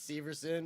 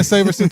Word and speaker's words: Severson: yeah yeah i mean sam's been pronouncing my name wrong so i've just been letting it go it's severson oh severson sorry dude wow wow i think i was saying saverson too so my bad but